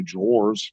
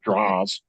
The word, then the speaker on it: drawer: Just like Sarah's mom can't say drawers. She said draws. Draws. It's not a draw. It's a drawer.